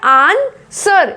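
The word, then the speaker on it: answer: आंसर, क्या बोला जा रहा है, आंसर, इसमें डब्ल्यू की कहीं से आवाज नहीं आ रही है, आंसर इसको बोला जाता है।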